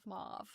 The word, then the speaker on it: mauve: Um, so Jan saying mauv. Yeah. One person mentioned that it could be part of like of the French pronunciation the way I'm selling saying it.